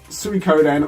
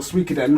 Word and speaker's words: Suikoden: got first two pounds I'll give you both pronunciations suikoden or suikoden the five it's a